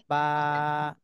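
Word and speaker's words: باء: আচ্ছা, তহমিনা বেগম আপু, আপনি এই হরফটার নাম বলেন।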